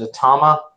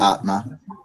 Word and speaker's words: Atma: here she goes by, is it Atama, Tim? Because you're technically working here tonight. Yeah, just Atma. That's how it's pronounced.